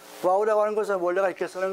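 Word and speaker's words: ו: 접속사는 와우라 하는 거 와우라 하는 것은 원래가 이렇게 쓰는 거예요 와우 이것이 저이 저 그 헬라 히브리어의예요 앤 히브리어의 앤가 저 저렇게 되는 거예요 와우 와우라 그래요 와우 이 발음은 와우라 그래 와우 그리고 뜻은 그리고 그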